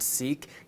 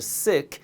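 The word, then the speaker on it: Sikh: sick religion and yes it's pronounced sick not seek giving is a fundamental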